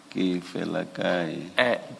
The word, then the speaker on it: Kefelakai: So you don't enunciate the second E. Can you please pronounce the surname? The surname is pronounced as follows: Kefelakai. Kefelakai.